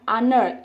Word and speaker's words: honor: Yang kedua nih, honor ya, honor itu dibaca honor ya. Nah, jadi karena dia dibacanya honor, sama juga huruf A dibaca vowelnya, huruf bunyinya seperti huruf vowel, huruf hidup, maka pun dia an honor.